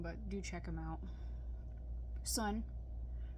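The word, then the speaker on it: Sunn O))): Sunn. Remember, they're pronounced Sun, not Sun-O.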